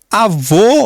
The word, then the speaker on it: avô: Assim, a palavra avô, olha só como fecha, em vez de O, que é aberto, O, que é fechado.